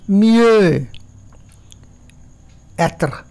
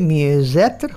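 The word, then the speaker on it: mieux être: Extra Z হয়ে যায়, যেমন কোনো শব্দের শেষে যদি এক্স থাকে অর্থাৎ যেমনি মিয়ে অ্যাত্র, তাহলে মিয়ে জ্যাত্র উচ্চারণ করবো মিয়ে জ্যাত্র, এক্সটা জেডের সাউন্ড দিল।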